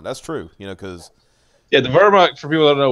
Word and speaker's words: Wehrmacht: Is it Wehrmacht? Yeah, Wehrmacht. Wehrmacht. It would be pronounced with the V.